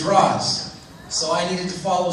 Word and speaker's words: Ra's: Because Nissa, in the most recent episode, says Raish. But it has been established prior to me getting to say it by people that exist in Starling City that it's Ra's.